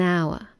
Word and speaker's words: hour: If it's silent, then use an. An hour. An honest man.